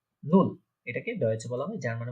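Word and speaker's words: null: শূন্য মানে হচ্ছে কি, নুল। এটাকে ডয়েচে বলা হয়, জার্মানে বলা হচ্ছে নুল। নুল, আমি উচ্চারণগুলো আপনাদের সুবিধার্থে, আপনারা যাতে উচ্চারণ প্রনাউন্সিয়েশন করতে পারেন, তাই আমি ডান দিকে লিখে রেখেছি।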